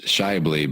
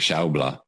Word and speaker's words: Schaeuble: German yeah yeah the the American pronunciation is Shively but German I believe is like Shou blah blah yeah yeah right